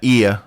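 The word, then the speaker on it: Oia: The most famous ones are in uh IA which is uh pronounced IA spelled O I A.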